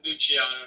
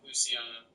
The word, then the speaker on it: Luciano: luch but I prefer I prefer if you just said luchano not Luciano oh Lano yeah double